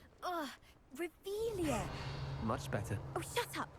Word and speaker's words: Revelio: where are you rebellious saying it wrong oh rebelia much better oh shut up wait Akio ah